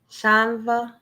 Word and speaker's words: Chanvre: moving a little okay so it's like french chanva okay it's like french i can hardly hear you can you hear me i can hear you now so turn up your volume a little bit okay all right yes okay so how did you come up with that name it is the r is silent okay so how did